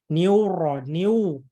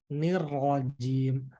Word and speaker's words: الرجيم: Jangki juga mengucapkan Bapak-Bapak Ibu semuanya niuro, nggak ada u di situ, tapi nirrojim, bukan niuro.